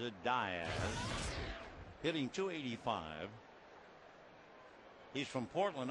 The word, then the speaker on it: Diaz: You're prone to say Diaz, but he pronounces it Diaz.